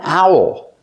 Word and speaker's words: owl: And this ornament is an owl. Owl. Pronunciation. Make the sound ow. And then the dark L.